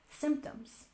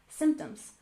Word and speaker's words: symptoms: We put the stress on the first syllable, symptoms, symptoms.